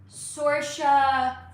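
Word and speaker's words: Saoirse: Sora. Okay. Sora Ronin. Born in the club. Um, Tony Kat. Yes. Zoe Dich. Yes. Sorca.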